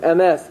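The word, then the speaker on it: אמת: The Jewish people need to grab a hold of, the correct pronunciation is not emes, it's ms, but in the vernacular we'll say ms.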